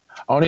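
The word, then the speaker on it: Oney: Roderick Strong versus, I'm not sure how to pronounce his name, One? Is it One, Lorcan, and Danny Burch? Only Lorcan.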